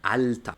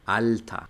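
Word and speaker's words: alter: esta que tenemos acá Cuando tenemos la e r una er al final de una palabra no en medio o al principio sino Al final todo esa toda la er va a pasar a sonar como una por ejemplo la palabra hombres Mena Mena o la palabra viejo alta alta cuando tengo una e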